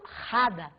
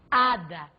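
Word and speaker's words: hada: regra de som e o h em espanhol é mudo ele não é em momento algum velar não eu não falo rada eu falo ada por se tratar de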